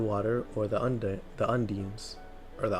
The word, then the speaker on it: undine: The element of water is controlled by the nymphs of the water or the un the undines or the undying.